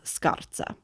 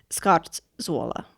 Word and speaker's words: Scarzuola: have used to build this hut were called Scottza. Oh, okay. And that is where the name Scott Zoa comes from.